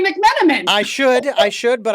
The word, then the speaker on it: McMenamin: and having Kate Winslet be able to say McManaman because that was the last name of the